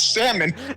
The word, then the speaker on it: salmon: family says it coconut I didn't I didn't know the L was supposed to be silent everyone in my they even say in the episode it's salmon everyone in my family says